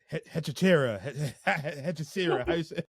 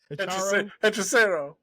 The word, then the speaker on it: Hechicero: Hechicera. How you say his name? Hechicero. Yeah, Hechicero, Lance Archer, Rocky Romero, and Trent Beretta.